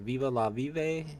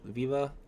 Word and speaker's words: VeVe: what's up Viva VI I always say his name wrong for some reason I go I do the Viva La and that messes me up on the VV it's like Viva la vi no it's Viva La Viv Viva La